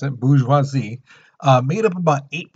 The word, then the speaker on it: bourgeoisie: here's the thing the bourgeoisie that's how you pronounce it bourgeoisie uh made up about eight percent of france